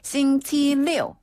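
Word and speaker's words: 星期六: 그다음에 토요일은 싱치리오. 싱치리오. 한 번 더. 싱치리오. 싱치리오. 네. 그리고 일요일은요. 네. 일요일의 그 일자 발음이랑 조금 비슷한데 르라고 합니다.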